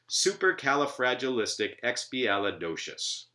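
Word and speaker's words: supercalifragilisticexpialidocious: observation here is that the first syllable Sioux and every other syllable following it that is alternating syllables are strong while the ones in between them are weak right so it's super Calla at the beginning not super Cola that would be a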